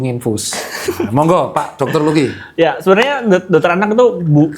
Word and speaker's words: Lucky: Kita sambut bersama Dokter Laki-Laki. Oh iya. Bacanya Lucky apa Laki dong? Lucky.